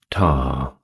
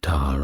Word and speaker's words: Ptah: Next up, we have Ptah, that is spelled p t a h.